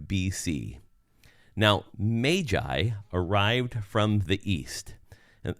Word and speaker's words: magi: I say their name, I call them the magi because that's probably how it was correctly pronounced rather than magi. So just think of the m a the a there as being a long a rather than a short a.